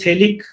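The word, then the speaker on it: phthalic: ये फिनोल के दो मॉलिक्यूल, दिस इज थेलिक एनहाइड्राइड, इसका जो नाम है वो थेलिक, P साइलेंट, थेलिक एनहाइड्राइड, थेलिक एनहाइड्राइड।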